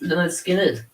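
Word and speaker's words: Lynyrd Skynyrd: So my number 3 is pronounced Leonard Skinner.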